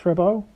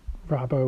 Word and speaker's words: Rabot: G tomorrow miss rabau I'm not sure you're supposed to pronounce the T in rabo or rabot or not you know I've seen discussions about it online that perhaps it was originally rabo with a silent te and people started pronouncing the tea after she was partly